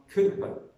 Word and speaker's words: Cowper: today and sung by Christians today the name is spelled totally I used to say with an older boy insisted on Cooper so I'm using the word Cooper now this